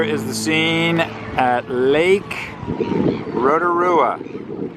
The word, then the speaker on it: Rotorua: the scene at Lake Rotorua which is sort of pronounced like roto-rooter